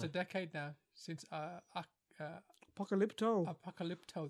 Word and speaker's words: Apocalypto: Apocalypto, that's how you say it.